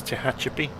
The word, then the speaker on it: Tehachapi: I think the stress is on the beginning of it. I think it's Tehachapi.